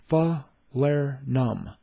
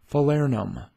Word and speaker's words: Falernum: In today's video, you are going to learn how to pronounce Falernum. Falernum. Falernum.